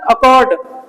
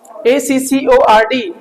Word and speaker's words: accord: Mother अलेड, ये क्या है सर, अकॉर्ड, ACCORD, अकॉर्ड, are silent है अगेन, अकॉर्ड।